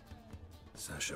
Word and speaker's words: Sasha: It's pronounced Sasha. That's Sasha.